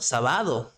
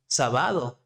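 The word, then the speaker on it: sábado: there we need to respect the accent Point okay it's not saado sabado it's not Sab right Sab okay now you say it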